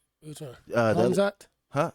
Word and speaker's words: Khamzat: Khamzat? Huh? Say Khamzat? Hamza? Khamzat.